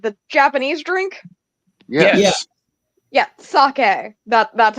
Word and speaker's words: sake: vodka potato potato vodka you don't like saki I'm sorry sake I'm a sorry I I'm a big fan of chilled saki not I know a lot of Saki is supposed to be drinking room temperature but I prefer the chill sake no I can't stand the chill sake you guys sorry I'm really quick s a k there's an e at the end sake the Japanese drink yes